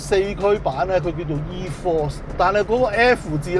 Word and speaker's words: e-4ORCE: version It's system named e-4ORCE But they replaced the letter "F" with "4" And the pronunciation of "4ORCE" It comes from the word "Four" So Nissan clearly understands